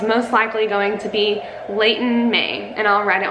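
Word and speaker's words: Leighton: his name was most likely going to be Layton me and I'll write it on the screen so y'all know how it's spelled my middle name is Li le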